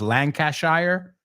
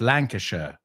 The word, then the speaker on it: Lancashire: Well, americanos dicen Derbyshire, ellos lo pronuncian shire, Derbyshire. So they're Lancashire, nosotros Lancashire, ellos Lancashire.